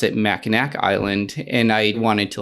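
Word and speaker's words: Mackinac: you're just like that's MAA and you're just like but why not just make the c a w so that people don't mispronounce it and it's like we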